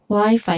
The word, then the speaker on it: Wi-Fi: It's crucial to give equal, you know, stress to both syllables to reflect the intended pronunciation. Wi-Fi, not wifi or wifi. It should be wifi. Equal stress only.